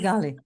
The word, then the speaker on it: Feghali: to pronounce your last name so can you pronounce Pali yes Pali okay um and Natasha is a real estate